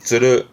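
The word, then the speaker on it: 釣る: 발음은 쯔르.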